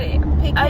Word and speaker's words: pecan: Oh, pecan. But, pecan yeah, versus that's pecan. the one that, Yeah.